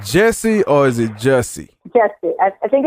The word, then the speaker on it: Jussie: Jussie. I think it's Jussie Smollett. Smollett. That's how you pronounce it, yeah.